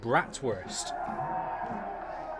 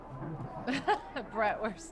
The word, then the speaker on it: Bratwurst: Bratwurst, Neil. What happened to it? Bratwurst. Oh, right, bratwurst. First. Yeah, because they pronounce it V.